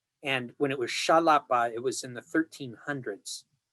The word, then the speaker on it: Xalapa: And the town itself was originally Xalapa. And when it was Xalapa, it was in the 1300s.